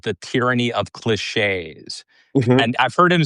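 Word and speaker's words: cliché: talk radio show and people would say clicks. They didn't know how they didn't know how to pronounce the word cliche. I think that's what it was. It was something that was fairly common, but it was often mispronounced.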